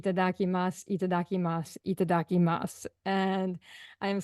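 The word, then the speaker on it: いただきます: you you call it itadaki Mas is that it and you said it perfectly oh good and um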